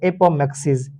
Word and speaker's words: apomixis: उसके बाद हमारा दूसरा क्वेश्चन आता है एपोमेक्सिस। स्पेलिंग भी आप ध्यान से रखते जाइएगा।